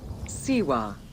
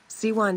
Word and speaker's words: Siwa: Welcome to Siwa.